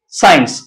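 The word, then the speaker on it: science: वो ये है कि जब एस और सी इकट्ठे आ जाए तो उसम सी साइलेंट होता है यानी वो एस साउंड देता है मैं कि decent decent sorry descend मसन साइंस अब यहां पर अगर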